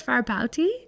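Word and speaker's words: Fárbauti: a u t can I see it far far bouti rooty for booty for booty far I would think that's far bouty anyways so yes the the whole point of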